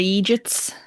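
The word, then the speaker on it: eejit: And it's spelled E E J I T, but it's literally just idiot in an Irish accent, but it's like treated like a whole other word.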